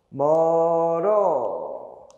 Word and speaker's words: 멀어: 것도 한번 해 볼까 멀어 걔네 집은 너무 멀어 그치 눈이 작고 감기다 긴 소리는 살아있다고요 멀어 감기다 표기랑 발음 똑같구만 그렇지 빈 소리가 살아 있어야 돼요 감기다 되셨죠 이걸 내면